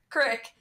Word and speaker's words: creek: which case the latter, Crick, is an alternative pronunciation of the former, Creek.